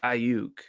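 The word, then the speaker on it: Aiyuk: As I said it right. I said it the way Tony Romo says Ayuk. It's Ayuk.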